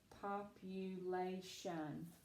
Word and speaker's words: population: It's long. It makes the A sound. Population.